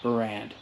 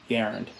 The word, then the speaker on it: Garand: everyone knows canadian and the way you pronounce it is garen not brand um he was very adamant about that it's garand so uh obviously if you